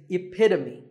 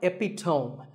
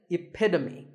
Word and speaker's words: epitome: This word means a perfect example of something, And the perfect pronunciation of that is epitome. It's not epitome. Once again, epitome. Of course, once you have